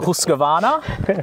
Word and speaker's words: Husqvarna: this right um yeah sometimes I put a bit of Swedish on it so I go husana um but no husky